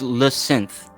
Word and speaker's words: Lacente: Just think of it as Lacente. Lacente. Well, there you go. But pretend he's French, so we can't say th.